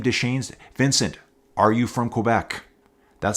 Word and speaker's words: Quebec: Straight out of Quebec City, Quebec. That's how you say it, folks. It's not Quebec. That's how I usually say it. As a Western Canadian, it's Quebec. You hit that K.